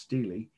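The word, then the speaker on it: stela: s-t-e-l first word steely i know it looks like the name stella a woman's name but it's pronounced steely s-t-e-l-a steely of hammer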